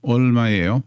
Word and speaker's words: 얼마예요: That's the zero consonant with no sound at the beginning. The vowel, o. The ril, which makes an L sound at the end or terminal part of a syllable. ol. The M sound looks like that box is the M sound. 마, 미음, 아, 마. 예, 요. 얼마예요? 얼마예요? How much is it?